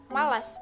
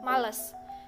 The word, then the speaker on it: malas: dan yang ketiga yaitu kata malas diucapkan malas bukan males dan yang keempat adalah